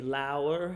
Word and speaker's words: lower: the the lancasters okay lower is a word you'll hear it means lower it's a verb rhymes with hour L arms you'll hear